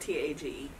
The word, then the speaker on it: Tage: 2 is spelled T-A-G-E.